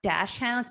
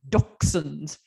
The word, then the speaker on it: dachshunds: It's not dachshunds, it's dachshunds.